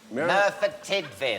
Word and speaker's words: Merthyr Tydfil: In, how do you say, Meredith Tidwell? Merthyr Tydfil.